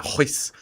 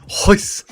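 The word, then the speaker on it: Royce: His name is pronounced Hoyce. He's Brazilian. Yeah, Hoyce. Hoyce.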